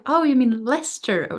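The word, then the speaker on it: Leicester: take a train to nearby town which looked like it should be read like L Chester but obviously is read Lester who would have known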